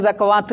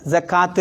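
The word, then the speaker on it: زكاة: പക്ഷെ സക്കവാത്ത് എന്ന് വായിക്കില്ല, സക്കാത്ത് എന്ന് വായിക്കുള്ളൂ.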